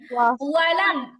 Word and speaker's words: ولم: كفوا أحد أحد আর ওয়ালাম ইয়াকুল্লাহ এখানে অ বলা যাবে না, অলাম বলা যাবে না, ওয়াও জবর ওয়াও জবর কি হবে? ঠিক ওয়া। আছে। ওয়ালাম ওয়ালাম ওয়ালাম ইয়াকুল্লাহু কুফুয়ান আহাদ।